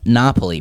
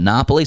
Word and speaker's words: Napoli: All right, Tino writes in, and the title is Napoli, brackets Napul.